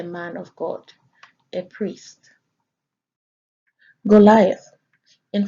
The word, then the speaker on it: Goliath: Goliath is found in Strong's H1555 and pronounced there as Goliath.